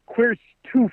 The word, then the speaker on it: QRSTUVWXYZ: Pronounced Queerstoof with these.